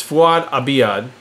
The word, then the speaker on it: Abiad: we left with fued abiad or Abad I pronounce it Abad I used to get my balls busted on geared up when I was a co-host there it's fuad Abad Abad liono byaki Max